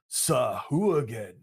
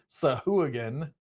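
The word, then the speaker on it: Sahuagin: a bit of gusto Sahu again alright so Sahu again is the official pronunciation but you can do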